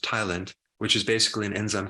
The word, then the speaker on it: ptyalin: There's this enzyme called ptyalin, which the P is silent, but it's pronounced tialin, which is basically an enzyme called amylase, that helps break down the starch.